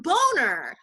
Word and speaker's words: Boehner: how you spell that how you spell his last name b o e h n e r and it sounds like boner so i said the